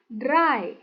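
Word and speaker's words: drei: E I dibaca a i bukan day contohnya tapi dry.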